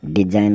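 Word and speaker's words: design: मतलब हस्ताक्षर डी ई एस आई जी एन डिजाइन मतलब नमूने या फिर रचना अब चलते हैं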